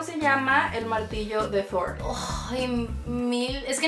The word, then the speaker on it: Thor: ¿Cómo se llama el martillo de Thor? ¡Ay, oh, mil! Es que nunca sé pronunciarlo.